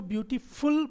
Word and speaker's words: ब्यूटीफुल: अगर आप इसको फुल बोलोगे तो यहाँ पे एक और ऊ आ जाएगा, जबकि यहाँ पे कोई ऊ का साउंड नहीं होता, ये होता है ब्यूटीफुल.